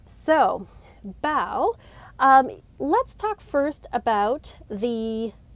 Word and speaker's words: Bael: through in order and it's spelt b-a-e-l and if you have ever read the bible or have a background in christianity you may be like huh that sounds like belle from the bible b-a-a-l and you were not